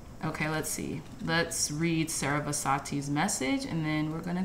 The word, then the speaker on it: Sarasvati: Sarasvati, yeah, that's how you say it.